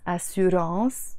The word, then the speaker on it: assurance: تأمين means insurance, and we also use a lot the word assurance, a French word pronounced in the Lebanese way, assurance, which is insurance.